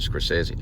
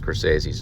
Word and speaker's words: Scorsese: department and I think I mispronounced scorsese's name I called him like Scorsese or something like that it was like some weird name and he corrected me and said uh Scorsese and uh I looked